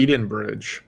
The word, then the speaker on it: Edinburgh: It's Edinburgh. Edinburgh. Want to pronounce it?